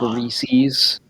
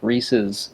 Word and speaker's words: Reese's: eating a king-sized one you notice how some people say it like reese's yeah kill him kill him dead but it's like it's supposed to rhyme with pieces like reese's pieces i used to have